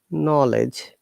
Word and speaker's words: knowledge: have K and together, we don't pronounce K at all, which means what words like say knowledge, you can see, or no, known, knuckles, K is silent.